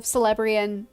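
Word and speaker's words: Celebrían: seen a lot of celebrian and forgive the soft sea that's just how I pronounce it uh I don't think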